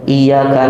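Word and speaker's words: إياك: Kalau misalnya imamnya bacanya iyyaka na'budunya, iya-nya nggak bertasydid Ustaz, padahal iya-nya bertasydid.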